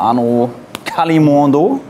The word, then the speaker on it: Arnaud Kalimuendo: Einmal Arnaud Kalimuendo. Genau so ausgesprochen.